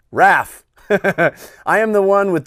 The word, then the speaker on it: Raph: Also, my nickname, Raph, is pronounced, like Raph.